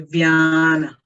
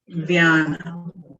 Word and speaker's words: Vyana: Say Vyana, Vyana, Vyana.